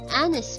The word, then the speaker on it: honest: Because in this word, letter H is a silent letter, and therefore the sound that it makes is a vowel. Sound of O, an honor, an hourglass, an honest man.